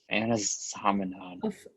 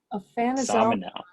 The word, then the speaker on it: Aphanizomenon: And you know, you struggled with the names that are hard to pronounce, so no shame there. Anabena, Aphanizomenon. Anazomenon. Oh, there we go. Aphanizomenon.